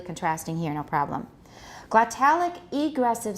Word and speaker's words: egressive: Which part do we stress? For example, egressive, ingressive. For these two, what are we going to stress? Normally it's egressive, ingressive. However, when we contrast them, what do we do? Egressive and ingressive. We move the stress so the listener can hear which part is contrasting.